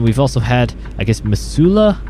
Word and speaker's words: Missoula: also had i guess missoula that's how i'm going to say it and i believe that's how you pronounce it in montana uh that was a